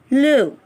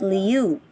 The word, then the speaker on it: lieu: Lieu or instead. Some of you pronounce this word as liu. Lieu or instead. So it is lieu.